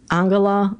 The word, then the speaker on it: Angela: a different pronunciation I how does how did they say her name in German angala I believe and she was the